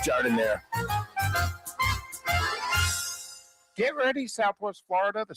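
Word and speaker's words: giardiniera: Don't call it Gardinia. It's pronounced jard in there.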